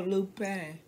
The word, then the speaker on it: Lupin: It's like you saying that, but you're not pronouncing the N. Pan. Lupe. Lupin. Lupin. You're kind of barely touching the N in the back of your neck.